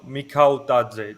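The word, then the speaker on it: Mikautadze: pronounce it? Mika Dautse. Mikau Tadze, just like how you read it, pretty much.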